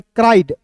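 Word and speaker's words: cried: आई ई डी देखिए सी आर वाई रहता तो क्राई पढ़ते सी आर आई ई डी है इसे पढ़ेंगे क्राइड the mouse one डे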